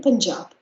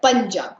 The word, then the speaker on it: Punjab: are from rajasthan then punjab it's called punjab not punjab punjab so you is a huge sounds as a punjab singh so as i